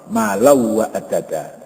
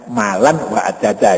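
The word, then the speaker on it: مالًا وعدده: pengucapan pada huruf wawu, malau wa adada, ya, jadi idgham bihunnah, ya, bukan malan wa adada, itu keliru baca Al-Quran begitu, ya, kan ini idgham Beguna juga harus diidghamkan.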